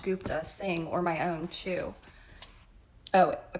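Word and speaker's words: Chugh: sing or my own cheu oh I pronounced it the U that sounds like the U and good and a hard GH at the end chug chug I'm not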